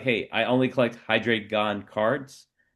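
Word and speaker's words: Hydreigon: this McDonald's card of uh I think it's pronounced uh Hydreon. So, there would be someone that would be like, "Hey, I only collect Hydraon cards."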